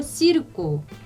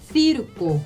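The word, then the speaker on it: circo: 그 다음에 세르베사 이렇게 think 할 때처럼 그렇게 비슷하게 발음하시면 되고요. 그 다음에 이것도 시르꼬 하실 수 있고, 그 다음에 시르꼬 이렇게 하실 수 있어요.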